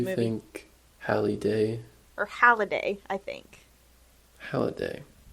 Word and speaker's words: Halliday: Yeah, Halliday. Halliday, yes. Is it yes. Mark? I knew it wasn't exactly Holiday. Yeah, it's Mark.